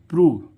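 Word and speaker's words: prove: अब देखते हैं इसमें प्रूव, PROV, प्रूव, यानी कि कुछ इसका उच्चारण ऊ भी निकलता है, ओ के बाद क्या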